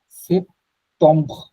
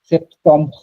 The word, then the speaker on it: septembre: এটা হচ্ছে এরকম, সেপ্টম্ব, এই টম, বিয়ারটা না একটা ধাক্কা দিবে গলা থেকে, বললাম যেটা হচ্ছে সেপ্টম্ব, সেপ্টম্ব, এক্স্যাক্টলি, অক্টোব, অক্টোব, নবম, দেসেম্ব, মানে শেষেরটা হলো গিয়ে বি দিয়ে উচ্চারণ হবে। বি দিবে কিন্তু একটু গলা থেকে ধাক্কা আসবে একটা বুঝতে পারছি, পরের জন্য,